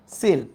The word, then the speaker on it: coel: একটা হচ্ছে COEL, এটাকে তোমরা কোয়েল বা চোয়েল ভেবো না, এটার উচ্চারণ হচ্ছে সিল। এটার উচ্চারণ কি? সিল।